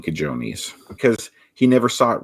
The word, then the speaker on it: cojones: There's no way Rocky should be saying cajones because he never saw it written down. If you saw that written down, you would mispronounce it if you didn't know the J sounds like an H.